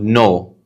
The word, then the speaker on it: know: So for example, you write the word no, K-N-O-W. We don't say or we don't pronounce the letter K, but we still write it.